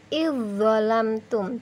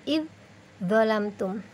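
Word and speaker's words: إذ ظلمتم: Dal sukun bertemu dengan huruf dha, maka cara membacanya langsung ke huruf dha yang ditasydid, idzalamtum, bukan idzalamtum.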